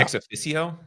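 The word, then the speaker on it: ExOfficio: I wish I can remember it I cannot pronounce this word it's EXO ffi CIO ex EXO ffi C IO C IO yeah ex aicio yeah uh I use a lot of their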